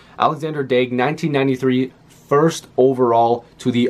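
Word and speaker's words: Alexandre Daigle: or Alexander again I've heard both ways it's pronounced Alexander dake 1993 first overall to the Ottawa Senators I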